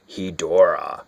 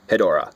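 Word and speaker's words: Hedorah: Next up, we have the largest Godzilla Minimates figure so far, and one of my favorites, Eudora, or Hedora, depending on how you like to pronounce things.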